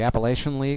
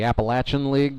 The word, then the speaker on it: Appalachian: That was uh so most of his play was in the rookie level at the Appalachian League or the Appalachin League, depending on how you say it, uh, with Johnson City.